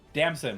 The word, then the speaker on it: Damson: Damson, like the plum.